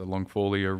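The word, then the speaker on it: longifolia: the longjack root, or it's pronounced a lot of different ways, but it's a longfolia root.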